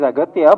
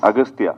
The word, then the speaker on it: Aghathiyaa: only no it is aatya but in the film uh your name is pronounced in different ways austa yeah in both ways it is pronouned yeah it's aatya and also austa so I don't know